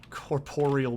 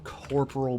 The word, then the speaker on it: Corporeal: triggers it really is whenever someone calls corporeal beasts and runescape corporal beast i'm like that's not even how it's spelled like that's not even close i know it's a